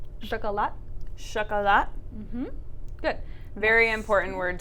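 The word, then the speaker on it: шоколад: So it's written chocolat, but we pronounce it with that a sound. So chocolat, chocolat.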